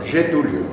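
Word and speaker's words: Getúlio: En portugués se dice, se pronuncia, se dice getulio o getulio, ¿no? Yetulio.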